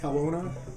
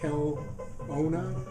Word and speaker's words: Kelowna: wrath never banned from i always pronounce it incorrectly kelowna kawona kel owna british columbia if i just if i don't think about it i can say kelowna that's it uh british columbia grapes